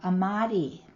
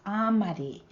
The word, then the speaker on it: amadi: For example, in Mountain Maidu, we have amadi, but in Konkow, it's amadi, with the stress on the first part of the word, ah.